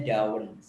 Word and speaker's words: Darwin: yang kelima itu adalah Darwin kalau orang Australia bacanya daun orang kita bacanya Darwin yaitu adalah nol Den